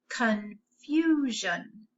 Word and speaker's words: confusion: Remember that S-I-O-N can say shun or jeune. Go ahead and try that word yourself, please. Let's try it together. Confusion.